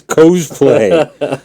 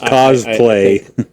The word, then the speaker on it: cosplay: episodes guys Carrie Luen I know it's cosplay okay well you know I see words and and I I pronounce them you know C CA cuz it's costume anyways go on I won't